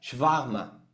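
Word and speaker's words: Schwärmer: Lutero hablaba de estos profetas de Sicó y del mismo Thomas Munser con una palabra alemana que se pronuncia shvahma.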